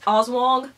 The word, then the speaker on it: Aswang: And this is the Aswang. Okay, it's actually pronounced Oswong, but me and the